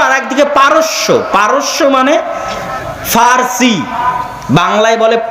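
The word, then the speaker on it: فرس: আর একদিকে পারস্য, পারস্য মানে ফার্সি, বাংলায় বলে প, কিন্তু ওটাই আরবিতে আছে ফার্সি, ফুরস। কেন আরবিতে পর কোনো উচ্চারণ নাই, আরবিতে পর কোনো উচ্চারণ নাই, সেটা আমরা পারস্য বলতেছি, ওটাই আরবিতে বলে ফুরস, ফার্সি।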